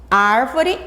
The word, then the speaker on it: árvore: Árvore e única, a sílaba mais forte é a primeira sílaba.